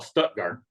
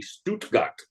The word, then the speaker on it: Stuttgart: a city they call Stuttgart okay but it's the exact same spelling as the German City Stuttgart but you have to say all the letters you can't Glide at the end okay teaching them to